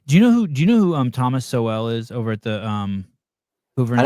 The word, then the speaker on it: Sowell: Hey, do you know who Thomas Sowell is over at the Hoover Institute? I know Thomas Sowell. Sowell, yeah, Sowell.